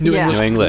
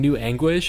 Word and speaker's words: New English: say it right like it sounds like she's saying new anguish every time did you guys